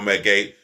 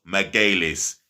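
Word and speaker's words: Magalhães: respect on your name for those of you that don't know how to say his name properly his full name is miguelis and he's getting a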